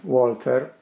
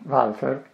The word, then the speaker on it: Walther: German arms manufacturer Walter or properly pronouncing welfare made an umbrella very